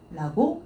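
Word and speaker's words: 評: 근데 이제 얘는 음독으로 읽어줄 때 헤이, 헤이와 헤이라고 읽어주게 되는데 얘는 지금 음독이 헤이가 아니네요. 효라고 읽어주시면 돼요.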